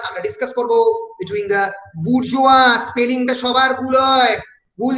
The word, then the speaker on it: bourgeoisie: Between the বুর্জোয়া, স্পেলিংটা সবার ভুল হয়, ভুল যেন না হয়, BOURGEOISIE, বুর্জোয়া। ISI কোনো pronunciation হবে না।